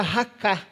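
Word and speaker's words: raca: Eh, mas essa ofensa é uma ofensa que Jesus usa aqui ainda no hebraico que que se pronuncia raká.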